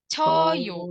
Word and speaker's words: 저요: Tapi kalau kita mau fokus ke pelafalannya, 저요. 저요. Cayo. Jadi monyong yang pertama ngebuka, yang kedua gini, O gitu. Cayo.